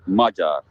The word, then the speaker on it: Magyar: Sammy, si pronuncia Magyar. Ecco. Grazie, ciao. E io cosa ho detto invece? Non mi ricordo più. Magyar.